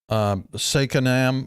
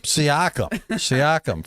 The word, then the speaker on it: Siakam: Sakanam or Saikim, or how do you pronounce his name? Pascal Siakam. Siakam for the Raptors.